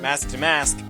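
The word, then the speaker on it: Mask DeMasque: someone from someone named mask deam mask which is pronounced mask de mask while using while doing jazz hands to requir so and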